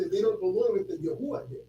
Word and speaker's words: Yahuwah: So where did they get Yahuwah from? Unless they're calling this. They get Yahuwah because some people don't pronounce this with this right here with the wah sound. They pronounce it with the Yah, Ha. But they put the U here. This sound right here is the U sound, the sound. So it's Yahuwah, Yahuwah, which is really, proper because